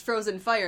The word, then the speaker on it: PHROZYNFYRE: like an ask and like, oh my god, I just realized it's pronounced Frozen Fire, and I'm like, Yeah.